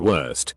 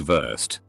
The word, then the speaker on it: Wurst: W is pronounced V. Something like worst, sausage, is pronounced more like Wurst, and she almost broke a desk because of it.